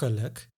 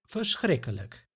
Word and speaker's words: lijk: So, it actually has to do with another Dutch sound, the schwa.